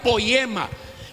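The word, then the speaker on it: poiema: la palabra es todo en la pronunciación sería poema o sea que oiga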